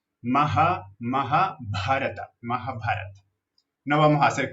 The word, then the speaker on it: Mahabharata: Esta H solita la pronunciamos J. Mahabharata.